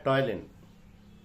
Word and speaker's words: ptyalin: दूसरा है टॉयलिन। इसमें P साइलेंट है, PTYALIN।